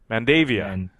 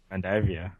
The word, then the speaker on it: Mandavia: uh anush Mand man how do you pronounce ankush's last name mandavia mandavia mandavia uh it finishes in